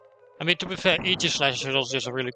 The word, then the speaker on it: Aegislash: I mean, to be fair, Aegislash is also just a really cool Pokemon, so yeah. Also, yes, it's pronounced Aegislash, not Aegislash. And especially not Aegislash. I get a bit peeved about that one.